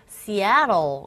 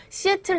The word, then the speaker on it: Seattle: 그래서 나중에 알고 보니까 이게 발음이 이 부분에 강세를 주고 트 사운드가 모음 사이에 있기 때문에 R에 가까운 현상이 일어나서 그래서 Seattle 이렇게 발음을 해야지 알아듣더라고요.